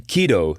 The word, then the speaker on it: Kido: in connection with the ransomware attack on the Keo chain of children's nurseries that is spelled Ki D O.